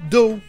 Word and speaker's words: dough: Et vous le trouverez aussi dans le mot dough, de la pâte, comme dans un donut.